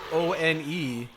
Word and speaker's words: one: number one is spelled o ne. So like it's pronounced one, but it doesn't look like it'd be pronounced that way.